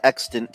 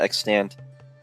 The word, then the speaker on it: extant: head in that direction add extant to the list of words I've pronounced wrong apparently it's not extand but who would come